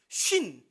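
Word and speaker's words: σύν: 쉰, 그러니까 발음이 똑같아요. 50을 의미하는 한국 단어와 똑같습니다.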